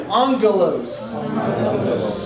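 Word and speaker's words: ἄγγελος: And I'd like to ask you to repeat the word with me, angelos. Now you'll notice that it looks like agalos. But when there are two gammas together in a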